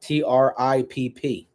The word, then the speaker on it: Tripp: TRIPP is the way they pronounce it.